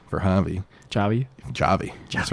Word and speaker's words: Javi: For those Americans out there, you spell it with a J, not with Yeah. an H. It took me a while to learn that. Yeah. He still spells it with an H, but it's fine.